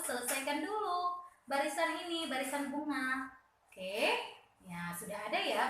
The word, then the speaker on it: bunga: Ini teacher bilang nggak boleh bacanya eng. Kenapa tidak boleh bacanya eng? Karena ada huruf vokal di depan G. Jadi ini langsung bacanya nga. Ya, bacanya nga ya nak.